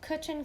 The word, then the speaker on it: Cwtch: For those of you interested, the company is called Cwtch & Co. Cwtch is spelled C-W-T-C-H.